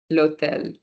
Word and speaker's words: hôtel: We did the word, I think, uh, l'hôtel, which is the hotel. Oh, yes, Kelly, excellent. H, because H is silent, right? So we don't really hear the consonant sound, we hear the vowel sound, so we still use L apostrophe.